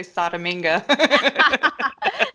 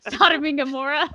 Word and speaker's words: Sodom and Gomorrah: How do you say that? Sodom and Gomorrah. I still say Sodominga. Sodom and Gomorrah. Sodom and Gomorrah. It's two separate names.